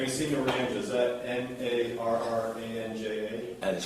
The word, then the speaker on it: Naranja: Is that Narranja? That is correct. It's pronounced Naranja?